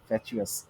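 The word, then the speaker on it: fatuous: মাথা মোটা, ফ্যাটুয়াস, যদিও প্রোনাউন্সিয়েশন ফ্যাচুয়াস।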